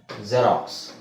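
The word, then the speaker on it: Xerox: ಗೊತ್ತಿರೋದು ಎಲ್ಲರಿಗೂ ಗೊತ್ತಿರುವ ಪದ ಜೆರಾಕ್ಸ್ ಜೆರಾಕ್ಸ್ ಅಲ್ವಾ ಜೆರಾಕ್ಸ್ ಅದನ್ನ ನಾವು zಡ ಉಚ್ಚಾರಣೆ ಉಚ್ಚಾರಣೆ zೆಡ್ ಅಂತ ಹೇಳಬೇಕು ಬರಿಬೇಕಾದ್ರೆ x ಅಂತನೆ ಬರೀಬೇಕು ಪದದ ಸ್ಟಾರ್ಟಿಂಗ್ ಅಲ್ಲಿ ಬಂದ್ರೆ ಅಂತ ಹೇಳ್ತಾ ಇದೀನಿ ಆದರೆ ತಲೆ ಕೆಡಿಸಕೊಬೇಡಿ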